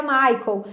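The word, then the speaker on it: Michael: Português traduzido é Miguel só que em inglês no idioma original que eu tô sendo assista se pronuncia Maicon então quando eu estiver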